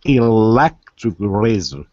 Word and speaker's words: electric razor: So where are the two stresses? Because you have electric, which is three syllables, and you have razor, which is two syllables. I would say electric razor. Perfect. Electric razor. That's exactly right. Yeah. That's exactly right. So on the second syllable of electric and on the first syllable of razor, electric razor.